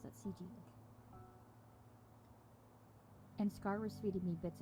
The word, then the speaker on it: Ci: Oh, so that's how you pronounce it, CG.